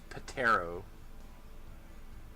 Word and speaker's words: ptero: It has a P at the beginning of it. Because ptero means flight, means wings. And rather than do away with the silent letters, we have to include the silent letters.